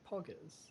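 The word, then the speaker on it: Poggers: POG is would it is it the word pogers is am I saying it correctly yes yes that is correct Mr D B we're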